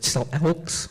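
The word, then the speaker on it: Syilx: part of the okaga or still Elks nation is the proper way to pronounce that and once I was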